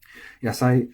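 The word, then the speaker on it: 野菜: Yasai should also be flat. Yep, yasai, nothing to worry about there.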